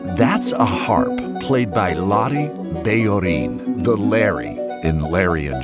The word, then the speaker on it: Bellorín: a harp played by Bellorín, the Larry in Larry and Joe. Larry anglicizes his name professionally, but I'll be using the Spanish pronunciation because that's how he says it.